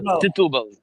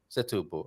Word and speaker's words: Setúbal: How do you pronounce it, Claudio? Setúbal. Setúbal.